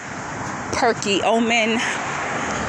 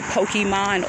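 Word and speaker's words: Perkiomen: names uh wyomissing cacoosing perky omen that's p-e-r-k-i-o-m-e-n i used to say pokemon all the time when i first came from new york there's another street here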